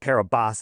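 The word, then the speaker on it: Kiribati: So, we click on it and it says uh it's registered to the nation of Kiraabati. Okay. Never heard of it. No, it's called Carabas is how they pronounce it, but Kerobati.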